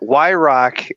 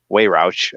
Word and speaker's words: Why-Rock: ahead go ahead uh y rock is how my last name is pronounced but like not how it's spelled it's just some consonants thrown at a wall and whatever drip down is they made into y rock so um a lot i get a lot of weight roushes and everything like that so um y rock is actually how you actually pronounce my name so when i did